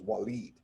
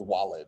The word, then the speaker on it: Walid: name sounds like like the correct pronunciation for your name is walid right where the actual spelling for it maybe wouldn't imply that i think i pronounce it correctly based on that but people might look at his wallet or something like that yeah oh